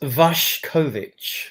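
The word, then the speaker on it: Vušković: Vuskovic, pronounced Vashkovic, right?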